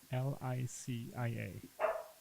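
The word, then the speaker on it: Lícia: Licia. With an accent on the I. The first, sorry. Is that right? Or ha? Yes, that's correct.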